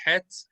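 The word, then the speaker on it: ח: the letter F right most Jews pronounce the letter het which is this letter and the letter half if we can find it here's a cough they pronounce these two letters the same exact way most Jews so if you have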